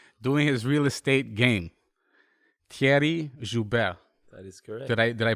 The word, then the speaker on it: Thierry: making that money doing his real estate game thierry did i pronounce it correctly you did